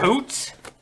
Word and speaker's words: Poots: It's pronounced What? Poots.